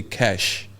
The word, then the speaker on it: kush: So anyway, the craziest thing happening there now is this particular drug called Kush. Kush. Kush. Some people say Kush, some people say cash.